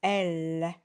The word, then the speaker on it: elle: On ne dit pas elle, on dit elle.